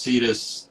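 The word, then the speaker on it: CITES: it's just kind of the general pronounced cetus spelled c-i-t-e-s um So for anybody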